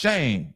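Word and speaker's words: Schoen: under the bus because his name is spelled S C H O E N and it's pronounced Shane.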